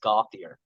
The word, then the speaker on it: Gauthier: they're California and Florida, so they always said Gauthier. Gauthier. But I always knew, because I would have other people come up to me and say, Gauthier, that's Gautier, and.